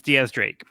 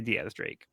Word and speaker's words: X Drake: Yeah, so it's spelled like X Drake, but it's pronounced like Diaz, like 10 in Spanish.